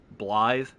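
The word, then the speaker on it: Blaidd: uh you'll notice that his name is spelled b-l-a-i-d-d but it's pronounced blithe uh blythe is welsh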